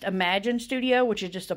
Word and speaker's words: Amajen: whatever you let your girl know and it's pronounced imagine Studio which is just a play on spelling